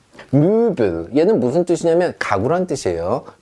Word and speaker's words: Möbel: 자, Möbel 얘는 무슨 뜻이냐면 가구란 뜻이에요. Möbel 이렇게 합니다.